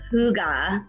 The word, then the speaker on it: hygge: i first heard about hygge i know it's not spelled like that so it's super weird to say i used to call it the hyge life because i didn't know so i bought books